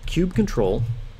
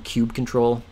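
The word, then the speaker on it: kubectl: kubernetes control commands the I call them Cube control uh that may not be the official pronunciation but it kind of flows so Cube control is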